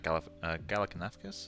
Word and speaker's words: Galifianakis: Also, this is looking like Zach Galifianakis or something. I can't remember how you pronounce his second name.